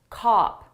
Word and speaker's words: cop: Cop. Which one is the shorter sound cup up a cop off my mouth opens wider for cop.